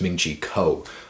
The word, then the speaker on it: Ming-Chi Kuo: about the iphone 7 a man pronounce his name wrong again it's ming-chi kuo alright so very first thing he's saying about